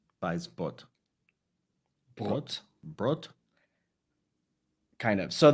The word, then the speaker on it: Weisbrot: Well, so I use this pronunciation with people that are outside of America, mostly Europeans, and it's actually German. So the pronunciation would be Weisbrot. Weisbrot.